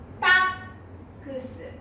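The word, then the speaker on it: タックス: 3 番から正しい発音はタックス、タックス、タックス。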